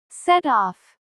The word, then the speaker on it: set off: Set off. The stress is stronger on off. Set off.